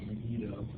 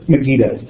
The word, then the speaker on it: Megiddo: How do you say that word? Megiddo.